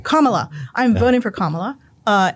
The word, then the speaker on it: Kamala: uh I'm voting for Kamala Kamala I keep saying it wrong Kamala I'm voting for Kamala